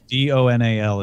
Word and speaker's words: Domhnall: Ethan Rayne on Twitter says that Domhnall is pronounced tunnel tunnel do nal is how he writes at Donnell guy should go